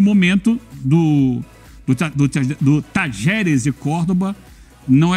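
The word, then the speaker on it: Talleres: Se você for de Córdoba, você fala Tajeres.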